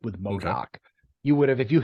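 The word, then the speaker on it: MODOK: no that should be no modafk and I'm like no it's Modoc she's like no it's modak I'm like it's like a 50 year old comic character I know how to spell it right and I guess this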